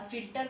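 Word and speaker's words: फ़िल्टर: अब फिल्टर में फ पर फिर देखिए नीचे बिंदु लगा है और इस बिंदु को क्या कहते हैं, नुक्ता कहते हैं।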